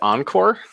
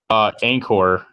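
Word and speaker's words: Anchore: You said Encore? Anchor. It Anchor. can just be pronounced Anchor, but it's Anchor with an E, I believe.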